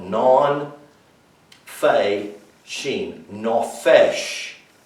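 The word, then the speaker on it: נפש: for the word soul is the hebrew word no fish non fey sheen that's how it's spelled non fei sheen no fish it's called soul now do you find genesis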